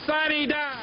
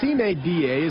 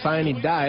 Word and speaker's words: sine die: This House is adjourned, sine die. Sine die is a Latin phrase meaning without day. It's mispronounced sine die at the Georgia General Assembly, but the point is that it's all over.